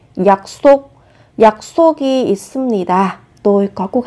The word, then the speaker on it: 약속: Khi phát âm các bạn chú ý gấp đôi phụ âm sờ lên. 약속.